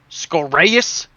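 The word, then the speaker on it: Skoraeus: You gotta pronounce it right, too, or else they get mad. Scoraeus Stonebones.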